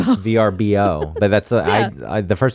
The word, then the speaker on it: VRBO: which I hate ver stop stop saying verbo VRBO but that's I the